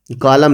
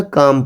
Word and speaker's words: calm: बच्चों ये CALM काम नहीं पढ़ा जाएगा, कालम नहीं पढ़ा जाएगा, बल्कि क्या पढ़ा जाएगा, काम पढ़ा जाएगा। जैसे BALM बाम, M से पहले जो L है ये साइलेंट हो जाएगा।